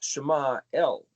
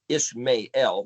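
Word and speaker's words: ישמעאל: Shema El is actually what the word is, not Ishmael. That's the English stupid way of pronouncing it.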